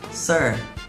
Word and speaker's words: Sir: ครับ Sir นะ ครับ พอ พูด คำ ว่า Sir ให้ ม้วน ลิ้น เข้า ข้าง ใน ด้วย Sir Sir อ่า พอ มา